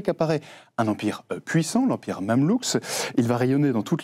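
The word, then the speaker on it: Mamelouk: Oui, pardon, je prononce Mamlou.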